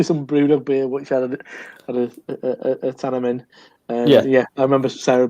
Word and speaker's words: Ahtanum: Simcoe Centennial and a Tannum, which I was told by TV Sarah Warman how to pronounce it was if it's like it's a tanning salon owned by a Geordie.